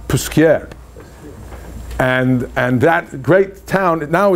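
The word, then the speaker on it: Posquières: and in Jewish life generally, we call it Paskvers. But Paskveris is somewhere in Lita, you know, that's in Lithuania maybe, but it's not the real correct pronunciation. So it's Puskier.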